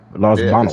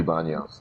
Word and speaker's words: Baños: But we're saying it like the white way. Los Banos. In Spanish, it has to be baños. Yeah, it's baños.